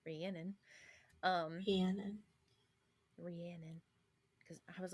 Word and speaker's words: Rhiannon: which I found out according to the what is it, the Audible version is how you pronounce it, Rhiannon.